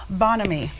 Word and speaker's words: Bonhomie: And how do we pronounce it correctly? Bonhomie.